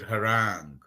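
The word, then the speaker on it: harangue: Pronunciation. So recently I came across a new word harang.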